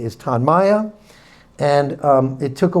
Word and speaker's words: Tonmya: So our brand name, as Ann said and correct, pronounce it correctly, is Tanaya.